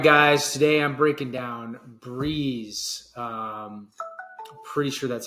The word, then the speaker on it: BREZ: Today I'm breaking down Breeze. Um, pretty sure that's how you pronounce it. I was mispronouncing it. Um, I was calling it brez, but pretty sure it's Breeze.